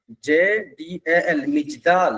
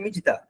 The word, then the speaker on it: Mijdal: उनका born in मिजदाल, याद रखिएगा, MIJDAL, मिजदाल, इसका प्रोनाउंस है मिजदाल, ए village on द आउट ऑफ, उस पे क्या है, आउटस्कर्ट्स पे है, ऑफ the city of Basra.